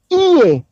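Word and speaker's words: Iesu: berdasar kepada bahasa Yunani di situ dibunyi iye iye bukan Ye bukan juga je terbacanya bukan jisas dan bukan Yesus bukan tapi iye Oleh sebab itu huruf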